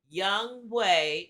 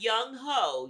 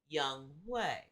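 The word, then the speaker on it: Younghoe: because I almost believe young way not young ho y'all it might be spelled young ho but it's pronounced young way young wayu probably hit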